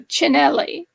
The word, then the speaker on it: Cinelli: is really good, but Cinelli, C, when you have a consonant and then a vowel after the consonant, the C is pronounced like che. So it's not S sound or a cos sound, it's a che sound.